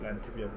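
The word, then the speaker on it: Land: 아 이게 그 독일의 농민들이 옛날에 해먹던 방식으로 만든 란트비어. 아. 란트가 랜드야. 그래서 여기 막 보이잖아. 전통 방식으로. 아 이 맥주 맛있네. 맛있지. 독일의 맥주가 종류가. 아아 랜드를 란트라고 읽는 거야. 란트. 독일어는 란트.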